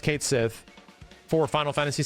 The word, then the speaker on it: Cait Sith: Square Enix confirms it Kate Sith is pronounced Kate Sith for Final Fantasy 7